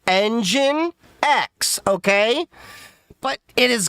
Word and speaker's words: Nginx: And reason being is that Nginx is actually Engine X.